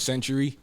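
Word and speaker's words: XNTRY: My name is Century. X N T R Y. Spell it right.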